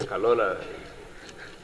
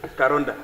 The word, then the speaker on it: Karonda: It sounds almost like Kalola. What is the correct pronunciation? Karonda.